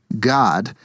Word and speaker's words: Gad: G-A-D, which is pronounced God, is the God.